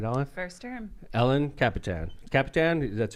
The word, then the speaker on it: Kapitan: Kapitan, that's how you pronounce it, right?